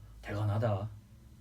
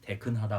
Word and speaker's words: 대간하다: 힘들다니까 대간하다. 배. 이게 발음이 되게 네. 애매모호한데요. 대간하다. 대간하다. 아니 대간하다 아니면 대건하다 네. 라는 것 같은데 건데 이제 중간 발음으로 대근하다 뭐 그런 식으로 대근하다.